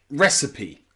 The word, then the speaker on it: recipe: look at words like recipe recipe okay in the word recipe the stress is on re re at the beginning and then the next